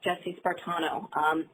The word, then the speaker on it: Jessie Spartano: JESSIE-SPARTANO. Last name is like Spartan and then add an O, so Jessie Spartano.